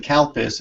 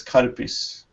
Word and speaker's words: Calpis: You must be saying Kalpis, and it's Karpis.